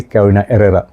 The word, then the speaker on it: Carolina Herrera: Hype Beast at one time, CH Man by Carolina Herrera, or if you say properly, Carolina Herrera, okay? H is silent.